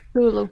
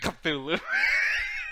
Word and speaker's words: Cthulhu: pronounced Hulu. Cthulhu.